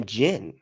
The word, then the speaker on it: jinn: They're actually jinn because with the DJ or however they spell it, like gin.